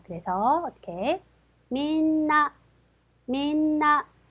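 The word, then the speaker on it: みんな: 단어입니다 자 그래서 어떻게 민나 민나 세 박자 그래서 나행 앞이기 때문에 니은 받침에 주시면 되겠죠 이번에는 편리하고 하는 단어입니다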